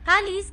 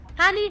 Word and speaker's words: Halley: Halley didn't live to see the comet's return, but his discovery led to the comet being named after him. The traditional pronunciation of the name usually rhymes with valley.